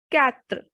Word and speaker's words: quatre: 4 is quatre, quatre, because QUA has sound ka, ka. So it will be quatre.